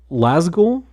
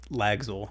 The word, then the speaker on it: Lagzul: Your company, it's Lazgul? Is that pronounced? Lagzul. One more time? Lagzul.